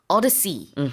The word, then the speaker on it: odyssey: 오디세이는 이제 한국식 발음이고 영어로는 odyssey 이렇게 발음을 합니다.